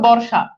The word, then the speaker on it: বর্ষা: এরপর দেখেন মূর্ধন্য ষ থাকলে সাধারণত হয়ে যায় কি তালেব বেশ, যেমন বর্ষা, দেখেন বর্ষার উচ্চারণটা খেয়াল করে দেখেন, এই যে তালেব বেশ চলে আসছে না, চলে আসছে।